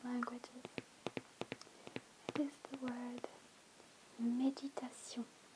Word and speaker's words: méditation: It is the word méditation. The accent on the E makes all the difference in the world.